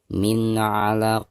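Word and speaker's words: من علق: Min 'alaq. Perhatikan nun sukun atau nun mati lalu berhadapan dengan salah satu huruf izhar, di sini huruf ain. Maka cara membaca nun sukunnya itu harus dizohirkan atau dijelaskan ya.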